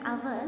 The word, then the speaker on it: hour: The word hour starts with a consonant letter, but here comes a vowel sound because H is silent.